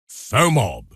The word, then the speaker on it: FOMOB: Pronounced FOMOB.